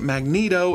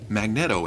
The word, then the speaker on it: Magneto: that's doubly so because I didn't know you were supposed to pronounce it Magneto until the liveaction movies and that was that was over half my lifetime where I just read it and said magnetto in my head you know so it